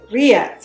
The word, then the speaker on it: rillettes: We have some rillettes or rillettes, oh, don't pronounce the L, rillettes, it's kind of like a pork pate.